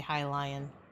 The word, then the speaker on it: Hylian: But it's probably supposed to be Hylian. Because it is spelled like lion. I just say Hylian because Zelda, I guess, on my brain.